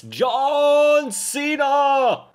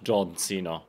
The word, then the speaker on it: John Cena: You're not saying it right. It's John Cena! Not John Cena.